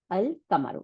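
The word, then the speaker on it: القمر: এই আমরা পড়ছি যে কামরি ওয়ার্ডের আল যখন থাকবে তখন কামরি ওয়ার্ডের আল লামটা উচ্চারণ হবে, কামার থেকে আসি, দাঁড়ান এখানে কামরি কোথায়, এই যে আল কামারু, এই যে কফ, তাই না?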